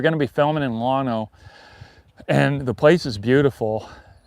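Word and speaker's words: Llano: Oh yeah, it's uh going to be near Lano, I think is how you say that. Lano.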